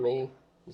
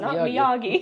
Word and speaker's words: Miyagi: the brand Mii Miagi Miyagi me he not Miagi he not Miyagi trike that is easy